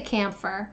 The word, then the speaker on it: camphor: I'm gonna say camphor. I'm from Western Pennsylvania. I don't care if that's an O. I'm gonna say it like an E.